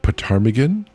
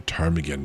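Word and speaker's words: ptarmigan: In the afternoon he blundered upon Oh dear, what's a parmagan? A tarmagan. Maybe the P is silent. I hate when people put a P, a silent P at the beginning of a word.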